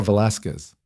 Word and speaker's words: Velasquez: I'm Velasquez." She pronounced it the Spanish way, the Z soft.